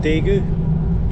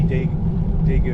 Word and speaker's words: Daegu: Just approaching a city called I think it's pronounced Daegu, which is about 370-ish kilometers down the trail from Seoul.